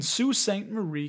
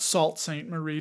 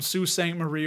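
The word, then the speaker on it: Sault Ste. Marie: and is headquartered in Sault Ste Marie Canada for those of you that are listening that is spelled s-a-u-l-t Ste Marie Marie Canada it's not Salt St Marie don't say that people from that region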